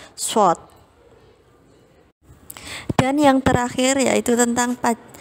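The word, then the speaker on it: ص: Huruf shad membacanya dengan bibir agak ke depan seperti hendak bersiul, shad.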